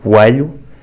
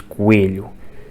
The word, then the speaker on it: coelho: os táxis de Lisboa eu digo Coelho transformando-o em uma espécie de a fechado e o Rui de Coimbra diz Coelho pronunciando é como é fechado a Filipa tem um